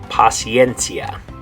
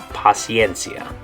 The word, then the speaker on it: paciencia: And the way you're going to say it in Spanish is paciencia. Paciencia. So in English, it's the word patience. In Spanish, it's the word paciencia.